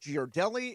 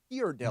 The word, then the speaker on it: Ghirardelli: I learned that it's not pronounced Ghirardelli. It's pronounced Ghirardelli.